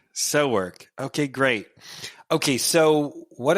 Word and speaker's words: SoWork: And so how do you pronounce it? It's called? SoWork. SoWork.